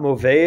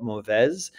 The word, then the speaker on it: mauvaise: Not mauvais if it's something feminine, but mauvaise.